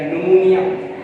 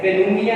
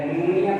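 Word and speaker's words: pneumonia: न्यूमोनिया, तो पेनुमिया नहीं है, ये साइकोलॉजी नहीं है, साइकोलॉजी है, P साइलेंट है, और P के बाद अगर P स्टार्टिंग में हो तो P साइलेंट होता है। न्यूमोनिया पढ़ेंगे, इसको साइकोलॉजी पढ़ेंगे।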